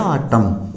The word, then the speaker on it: autumn: For examples देखिए, AUTUMN, यानी एम के बाद एन है तो यहाँ अपना एन साइलेंट हो जाता है, क्योंकि एम के फौरन बाद एन आए तो एन साइलेंट रहेगा। तो ये अपना हो गया ऑटम। ऑटम क्या होता है?